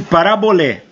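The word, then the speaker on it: παραβολή: grego parábola A palavra tá escrito em grego aqui ó pronuncia-se parabolé que quer dizer jogar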